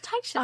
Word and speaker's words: Titian: It's Titian. I've only ever seen it in Nancy Drew because they described her hair as Titian 3 different times.